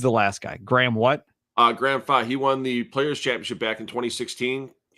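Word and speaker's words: Graham Fach: Portland Lumberjacks, Wes Malott, Kyle Troop, Chris Prather, Graham Fa, is that how you say it?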